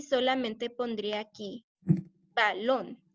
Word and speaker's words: balón: La primera sílaba ba o lon. Lon. Lon. Entonces, y termina con N, entonces quiere decir que el acento va en la vocal, que sería la O.